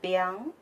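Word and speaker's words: 𰻞: In Chinese, it is pronounced biang.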